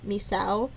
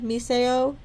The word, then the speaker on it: Misao: it on YouTube, and many of them in America say Misao, but the Japanese pronunciation should be Miseo because of how that the Japanese language works.